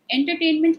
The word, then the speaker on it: entertainment: K mint four syllables now where does the stress fall and entertainment if entertainment can be used as a noun and as a is a noun entertaining is a verb now if I look at it as a noun entertainment it comes right in the beginning entertainment so my primary stress would be right before e but my stress fit